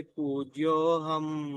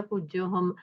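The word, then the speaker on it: पूज्योऽहम्: भवनत्रय पूज्योह भवनत्रय पूज्योहम नकार का उच्चारण संपूर्ण होना चाहिए।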